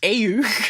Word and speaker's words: AEU: Eight years after the one-year war, the regular resistance group, the anti-earth union group, aka the AEU, pronounced AU, how many vowels can we get in an acronym?